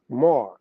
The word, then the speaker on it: Mar: in another in Aramaic see this Aramaic word is pronounced Mar it is used as